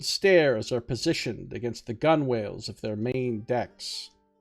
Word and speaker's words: gunwales: are positioned against the gunwales of their main decks. I think you pronounce it like gunnel, don't you? I don't think you pronounce the W.